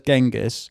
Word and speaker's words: Genghis: A French It's a French book. That's why it's gang Everyone says Genghis Yeah.